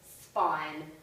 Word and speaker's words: spine: For example, here in spine, we don't pronounce the E, but it changes the way the I makes a sound.